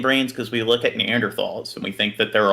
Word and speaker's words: Neanderthal: Neanderthal. That's how they're actually pronounced.